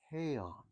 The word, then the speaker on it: Heian: In Okinawan, the word is pinon, but in mainland Japanese, it's heian. And it's the same word, the same meaning, just pronounced differently.